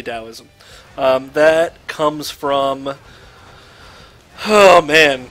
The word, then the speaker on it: Taoism: didn't do so Taoism you'll notice that it's spelled Taoism but it's actually Taoism that comes from oh